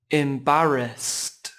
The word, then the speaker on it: embarrassed: Từ này chỉ có 3 âm tiết và trọng âm rơi vào âm tiết thứ hai các bạn nhé. Âm tiết đầu tiên có chữ âm y ngắn e, e, im. Các bạn không đọc là em nhé. Các bạn cũng đừng quên 2 phụ âm cuối và embarrassed.